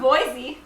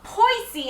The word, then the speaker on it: Boise: pronoun no it's po you were saying poisy and I said Boise it was the first syllable boy C no we were